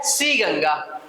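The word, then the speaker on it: ताशीगंग: तो ये है सी गंगा। ठीक है, टी साइलेंट है तो सी गंगा।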